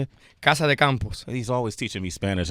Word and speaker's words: Casa de Campo: I was in Casa Campo. Yes. How you say it? Casa de Campos.